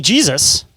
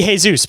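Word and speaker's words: Jesús: Alzira Maria de Jesus, or no, it'd be Jesus because it's Spanish.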